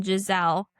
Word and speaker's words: Giselle: except for one, Giselle. And I actually remember her name partly because it's so unusual and partly because it rhymes with gazelle, which she kind of looks like with her long face and sleek cheekbones.